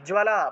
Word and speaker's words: জ্বালা: তাহলে চূড়ামণি তথা, জ্বালামুখী, জ্বালা বর্গীয় জয়ের নিচে বফলা ছিল, তাহলে জ্বালা উচ্চারণ হবে, জ্বালামুখী নখ জ্বালম, নখ জ্বালম।